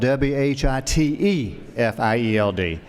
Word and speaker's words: Whitfield: I'm not sure they're the same, but Whitfield and Savannah is spelled W Hi T F I E L D.